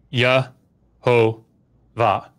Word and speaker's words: Jehovah: century, I can't remember, people came up to the these manuscripts and saw Yod Heh Vav Heh with Ah O Ah as the vowels. And they went Yah Ho Va.